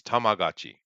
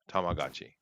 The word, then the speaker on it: Tamagotchi: to show people not me see how that's pronounced let me look at it here oh okay it's uh it's tamagotchi tamagotchi tamagotchi yeah i'm like friends do you remember the